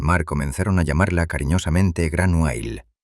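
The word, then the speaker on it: Gráinne Mhaol: Desde aquel día inolvidable, los rudos hombres del mar comenzaron a llamarla cariñosamente Gran Wail, pronunciado Granyell, un apodo legendario que significa literalmente Grace la Calva.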